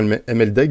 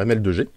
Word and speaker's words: ML2G: Moi, je disais souvent MLDEG, mais on dit que c'est pas comme ça que ça se dit. Alors, on va dire ML2G. On va respecter quand même la prononciation de son pseudo.